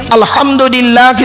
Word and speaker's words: আলহামদুলিল্লাহ: বলি সূরা ফাতিহা পড়ি আলহামদুলিল্লাহি রাব্বিল আলামিন আলহামদু হাই হুতি হাই হাব্বাস নয় আলহামদু গলার ভেতর থেকে এটা উচ্চারণ করবেন আলহামদুলিল্লাহ মানে হচ্ছে সমস্ত